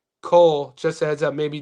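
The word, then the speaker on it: Kao: We pronounce it Cole. I'm probably okay. So, am I pronounced? I'm horrible with names. I do my best. My boy who's in the Discord, he spells it K-A-O, so it's Cole.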